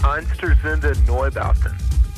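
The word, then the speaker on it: Einstürzende Neubauten: pronunciation okay go ahead it's einster zinda noy bowsen oh that's absolutely correct okay how did you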